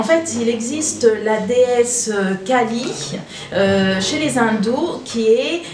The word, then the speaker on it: Kala: Parce que en malgache, on ne prononce pas la dernière syllabe. Donc, c'est pour ça qu'on prononce Kal.